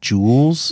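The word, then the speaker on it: Jools: money later on they call it Jewels yes with two o's j o o LS and I just think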